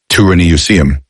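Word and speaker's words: Turaneusiam: The Guardians teach that long before Earth's modern civilization, an advanced humanoid race known as the Tyrannosium, pronounced Turinucium, existed in higher dimensions, particularly within the planet Tara, Earth's earlier incarnation in a higher density time field.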